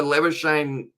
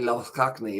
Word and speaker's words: Labuschagne: And also Labuschagne, I believe he prefers it pronounced like that. But then if you look at the pronunciation in South African, it's actually Labuschagne, isn't it? Or something similar. I feel like I still don't quite say it completely correct.